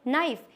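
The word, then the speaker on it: knife: हमारा colonel and fourth नाइफ यहां पे के भी है बट के साइ होता है तो इसको कै नाइफ नहीं इसको नाइफ पढ़ा जाता है इसके सारे रीजंस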